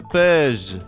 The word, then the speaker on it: Page: Désormais, il faut tourner la page. La page. Oui, ça se prononce Page, ça marche à moitié.